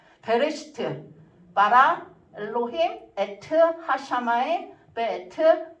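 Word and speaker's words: בראשית: 그래서 여기 맨 끝에 보시면 1이라고 써 있는데 첫 번째 게 베레시트예요. 베레시트. 태초에. 첫 번째 이렇게 기억처럼 생긴 거 있잖아요. 그게 부발음이 나는 거거든요. 베레시트.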